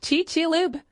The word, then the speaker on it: Chicxulub: More specifically, the direct hit was in the town now known as Chicxulub, pronounced Chichilub, a Yucatan beach town on the Gulf of Mexico.